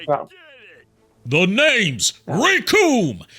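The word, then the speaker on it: Recoome: The name's Rikum. It rhymes with doom, and you're gonna be hurting all too soon.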